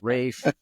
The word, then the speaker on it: Ralph: talking about him like this dude's name is Ralph how can it be pronounced Rafe um let me check